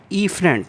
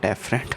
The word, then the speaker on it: efferent: They are afferent types of, not efferent, not afferent. I don't know why I mispronounce it.